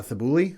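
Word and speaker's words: Thybulle: their uh players uh matisse uh thibouli i think is how you say the last name t-h-y-b-u-l-l-e uh and the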